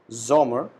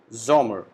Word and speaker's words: Sommer: Summer, we call it Sommer. Again, S alphabet is pronounced as Z. So, Sommer means summer.